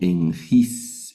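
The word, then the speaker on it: ἐγγύς: se lee en griego en gis, en gis, que es cerca. Noten, la primera gama la pronunciamos como n. Cuando está seguida de una capa, también la vamos a pronunciar como n anguira.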